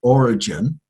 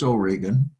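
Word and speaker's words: Origen: Nazarene style uh from France Oregan some people pronounce it origin but it's Oregan and Jerome the translator of of the Greek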